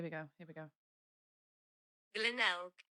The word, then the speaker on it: Glenelg: Glenelg. Glenelg.